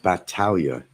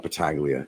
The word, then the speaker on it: Paglia: that's not my name the last name is pronounced Batalia it's not bataglia it's Batalia just to let you know and I